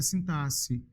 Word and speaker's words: sintaxe: Deus pronúncia correta é sintaxe estão vendo dizer professor eu tenho que estudar sintaxe tá precisando pronúncia correta é sintase tá sintasse vem do